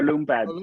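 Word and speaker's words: Lume Pad: i'm going to show you this is the lumay pad is that how you pronounce it lume or loom or loom the loom pad we say loom and this is basically think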